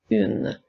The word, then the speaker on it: une: livre maintenant le mot une celui-là nous a aussi nous l'avons vu lors de la capsule numéro 1 il y a la lettre U la lettre N et la lettre E